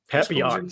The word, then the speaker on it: Papillon: Papillon.